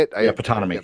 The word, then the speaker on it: Ptonomy: Yeah, Ptonomy. Yeah, Ptonomy.